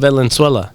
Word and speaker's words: Venezuela: Of Venezuela. You're saying it wrong. What the fuck is it? What am I saying? Ne su la. Say it faster now.